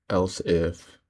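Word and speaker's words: elif: Multiple conditions with it's spelled weird, but it's else if.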